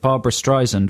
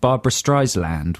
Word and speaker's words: Streisand: For most of my 32 years, I thought that Barbra Streisand was called Barbra Streisland with an L.